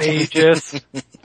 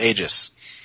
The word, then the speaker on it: Aegis: Oh yeah, Aegis. It's not Aegis. It's got an A on it.